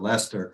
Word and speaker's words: Leicester: tonight thank you Liz I can't believe you pronounced the town of Leicester correctly that's uh quite a fee for someone down to Texas uh thank you I spelled it like the name Lester but that's exactly right yeah no we're we're